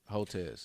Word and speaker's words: Hotez: Hotez. Think of hotel with a Z. Hotez.